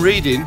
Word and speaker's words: Reading: can when I'm when I'm in Reading pronounced reading I always go to